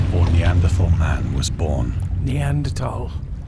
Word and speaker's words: Neanderthal: Neanderthal. It's pronounced Neanderthal.